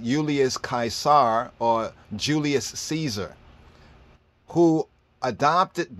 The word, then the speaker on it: Kaisar: look right here and in the Greek times he was known as kaisar kaisar see we start to have the right pronunciation of it things are gonna click